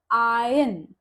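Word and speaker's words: iron: उच्चारण कर रहे हैं अब इस रूल का एक एक्सेप्शन है आयन आई आर ओ एन तो वैसे तो हम यहां पर देखते हैं तो आर के बाद वाउल साउंड ही है ओ का पर आयन एक ऐसा वर्ड है जिसमें आर के बाद वावल साउंड होने के बावजूद भी हम आर का प्रोनंसिएशन नहीं करते तो यहां पर प्रोनंसिएशन है आयन र नहीं बोलते अब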